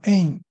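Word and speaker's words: אין: 外一个意思，读成 ain 啊，就是没有的意思啊。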